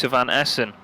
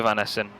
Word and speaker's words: Van Essen: number 15 of what von essen sorry Walter Van Essen I keep getting told I'm saying it wrong there he is I